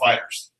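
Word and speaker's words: FighterZ: No, Dragon Ball Fighters. That's what it is. Z. No Z. With a Z at the end. It's a Z at the end, but you don't pronounce the Z.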